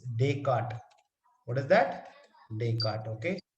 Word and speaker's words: Descartes: But the pronunciation is, I know it's Descartes.